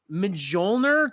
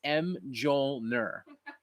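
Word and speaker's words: Mjölnir: that's Moler 29 vinyls tastes good but it's huh I mean in Fury yes but his name is literally pronounced M Joel ner like I'm not I'm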